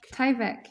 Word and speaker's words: Tyvek: embroidery out of tyvek is that how it's pronounced this industrial material tyvek tyvek yes tyvek sorry that's what you see on